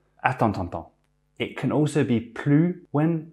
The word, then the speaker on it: plus: When used in a negative sense, the S is never pronounced. It's always plus.